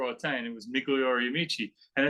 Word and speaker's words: Amici: It's Migliori Amici and Company. So if you take the I's in there and you pronounce them like long E's, Migliori Amici and Company. It's Italian. It's Italian?